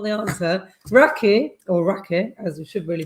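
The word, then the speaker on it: Rakı: Raki, as we should really pronounce it, 4%.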